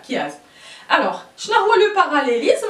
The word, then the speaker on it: chiasme: وهذا لو كيازم راه كيبدا بسي اش ولكن كيتنطق ك فوالا كيازم.